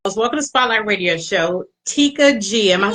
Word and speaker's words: Tekia Gee: first and foremost welcome to Spotlight radio show Tikka G am I saying it correctly oh yes ma'am